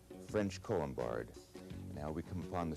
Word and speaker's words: Colombard: Here we have the French Colombard, French Colombard.